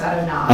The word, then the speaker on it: Adonai: name which we usually pronounce which we usually pronounce Adonai Adonai right the the yud and hey and